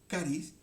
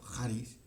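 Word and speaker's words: χάρις: Que la hemos leído, es la palabra charis, o pronunciado en griego charis, ¿okay?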